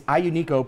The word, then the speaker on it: Aglianico: So some people will pronounce this Aglianico or Aglianico. Yeah. It's Aglianico properly.